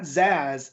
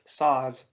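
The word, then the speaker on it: Szasz: I looked up pronunciation of this, and that the S and the Z make an SA sound, right? So it's not Zaz, it's Saz, which I know sounds the same, but we're differentiating.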